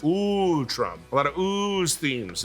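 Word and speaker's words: Utrom: Mutant Ninja Turtle universes their species name is pronounced ooh Trump a lot of ooze themes in the Ninja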